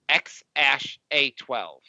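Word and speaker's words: X Æ A-12: yeah that's ridiculous um he said the name is pronounced as X Ash a12 he what he what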